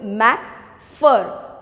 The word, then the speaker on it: McPherson: okay now uh just see the pronunciation of this word mac fur ph is used for for my first